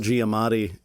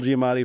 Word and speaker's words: Giamatti: Paul Giamatti, and I think I've added an extra syllable. Paul Giamatti in Fred Claus.